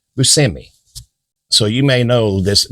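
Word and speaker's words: Buscemi: Steve BMI which actually his parents are from Italy so the last name is actually Bushi but anyway he never liked to pronounce it that way he always said Bui so you may know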